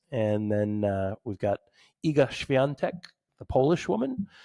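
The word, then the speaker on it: Iga: I feel like that was great pronunciation by the way. Thank you. Sounded good. It takes It doesn't her name looks nothing like that. So you got to learn how to pronounce it and then read it separately.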